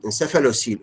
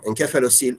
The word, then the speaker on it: encephalocele: whether you pronounce it pronounce it with s or k encephalocele or encephalocele both are right encephalocele as the name